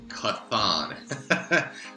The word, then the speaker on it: Chthon: werewolf by night so the dark hole involves kathon yes it's pronounced con i can't tell you how many people have